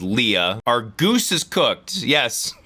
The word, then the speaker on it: Leia: my God okay Princess Leia which is the original pronunciation was Leah our goose is cooked